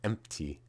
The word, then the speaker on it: empty: If you look etymologically at the word, it didn't originally have a P written there. It's just people started pronouncing it that way. So I would actually get rid of the P there. So empty.